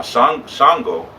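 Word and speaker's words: Ṣàngó: Now shango spelled S A N G O. There's a little dot under the S and a little dot makes it sh as opposed to S.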